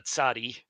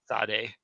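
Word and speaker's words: צדי: Some people call it a tsadi. I call it sade.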